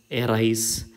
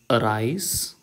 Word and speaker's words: arise: പക്ഷേ that pronunciation is wrong. This should be pronounced arise. Okay, around, allow. Okay, the first sound is നീട്ടി പിടിച്ച് എ എന്ന് പറയേണ്ട കാര്യമേ ഇല്ല, അത് തെറ്റാണ്. ഓക്കെ, എറൈസ് എന്ന് പറയില്ല.